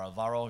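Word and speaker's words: Álvaro: um well hello everybody my name is Alvaro you probably know that or Alvaro if you prefer to pronounce in English and one of my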